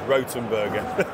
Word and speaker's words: Rothenberger: the situation and the clever people over at rotenberger in Germany I how you say it rotenberger it's Ro the correct pronunciation is rotenberger that's worth you can see the copper can't